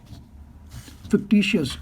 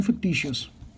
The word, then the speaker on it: fictitious: fictitious, sorry, I pronounced it wrong, fictitious.